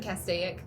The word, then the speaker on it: Castaic: I think you see the Lake Castaic. Yeah. If I said that wrong, how do you say it? Castaic. Yeah, I was like, there's one more Yeah, yeah. syllable. You had one less syllable.